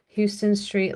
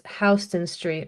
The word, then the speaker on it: Houston Street: People who like to visit the city pronounce Houston Street like the town, but it's Hston Street.